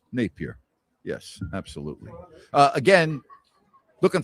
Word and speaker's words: Napear: Yes. Two syllables. Napier.